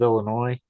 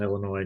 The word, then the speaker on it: Illinois: of the state of Illinois is that line where he talks about the Illinois National Guard. The S is silent for you non Illinois people.